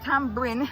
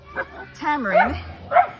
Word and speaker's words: tamarind: Tambin as we say in Jamaica. Tamarind as it is pronounced.